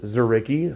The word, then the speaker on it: Dzuricky: is spelled DZ by the way but it's pronounced zarii so it's R A zicky 2024 we've got